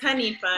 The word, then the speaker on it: Hanifa: so I asked Honey, how you say your name again? Hanifa? Hanifa. I always say it wrong, and I feel like I say it wrong. It's Hanifa. Hanifa. You got it. Yes.